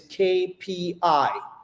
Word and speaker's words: KPI: But the pronunciation of cape e in English is kpi.